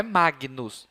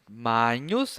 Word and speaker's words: magnus: né reparem o seguinte quando a letrinha g e n estiverem juntas ela terá um som eh a palavrinha terá um som de NH como na palavra nhoc nhan nhã Então como na palavra manhã né esse NH NH NH então reparem a minha pronúncia Magos viram só não é Magnus Mas ó Magos